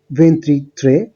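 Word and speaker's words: ventitré: তো আপনারা দেখতে পাচ্ছেন, একটু আমরা দেখেছি 21 এর জন্য উচ্চারণটা হচ্ছে ভেন্তুনো, 22 এর ক্ষেত্রে ভেন্তিদুয়ে, 23 এর ক্ষেত্রে ভেন্ট্রিত্রে।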